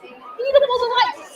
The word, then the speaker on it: Eatable Delights: He is the founder and creator of Eatable Delights. Did I pronounce it right?